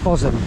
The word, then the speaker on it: Bosham: we're now here at fosam it's actually pronounced possum which I didn't realize